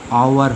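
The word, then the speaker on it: hour: কিন্তু যদি এরকম এইচ ও দেখো, তখন উচ্চারণটা দেখো এইচ ও ইউ আর, এখানে আর হ না হয়ে আওয়ার হয়ে যাচ্ছে, মানে অ বা আর মতো ভাওয়েল হয়ে যাচ্ছে।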